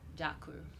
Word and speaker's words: Дякую: Дякую.